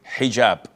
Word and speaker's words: hijab: But this is an Arabic word. So we're Muslims, we have to say hijab.